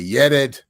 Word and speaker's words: Yered: And he was very interested in pronouncing my name Yered in the traditional Amharic, I guess, pronunciation. So he would always say, Yered.